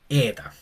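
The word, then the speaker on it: ἦτα: Entonces esta e larga se llama ETA. Es un pronuncia como una e larga, básicamente. Eta.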